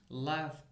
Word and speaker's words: laugh: cooked hooped missed washed laugh remember the word laugh it is as GH which is pronounced as f f so we have